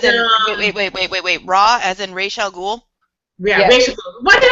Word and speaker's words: Ra's al Ghul: Ra as in Ra's al Ghul? Yeah, Yeah. Rachel. Why did I say Raish. that? I cannot pronounce his name. Ra's al Ghul. Ra's al Ghul. Rachel Ghul.